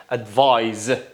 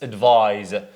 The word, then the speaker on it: advise: you have to say advise Z it's a z sound in British for example it's advise look at here it's